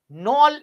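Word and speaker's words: Knoll: আমরা অন্য কয়েকটা জিনিস দেখে নিই যেমন হচ্ছে নল এবং রুস্কা এরা কি আবিষ্কার করেছিলেন মাইক্রোস্কোপ ওকে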